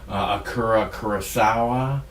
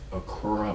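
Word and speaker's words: Akira: uh the seven samurai akura i believe is the way his name is pronounced akura kurosawa i believe that's right he made a movie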